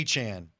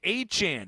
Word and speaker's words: Etienne: And Etienne is actually Achan. Travis Etienne is Travis Achan. All right. Brett Favre wants a word. What the hell was happening in Clemson? They couldn't say Achan. It's 2 syllables.